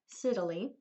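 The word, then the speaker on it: scytale: used something called the I always said it wrong but it's Italy Siddalee which was popular with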